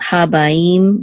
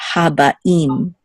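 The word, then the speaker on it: הבאים: And even here, actually, Habaim. It's not Habaim, but Habaim. Okay?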